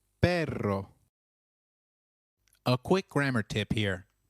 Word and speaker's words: perro: usually animals note that double r in Spanish can also be referred to as rolled R the pronunciation is almost with a vibrating sound so try saying perro which means dog again it is perro a quick grammar tip